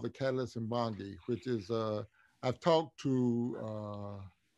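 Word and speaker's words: Mbongi: The Catalyst Mbangi. Mbangi? Mbangi. Spell it for me, please.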